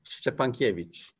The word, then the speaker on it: Szczepankiewicz: do this once prosperity so it's pronounced upon cabbage cabbage yeah something like that it's a Slavic last